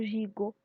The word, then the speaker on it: gigot: Parce que G devant I se prononce J et G devant O se prononce go.